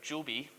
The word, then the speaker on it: Joby: They're called, you need to be careful how you say this because it's spelled G-O-B-Y. They're Joby.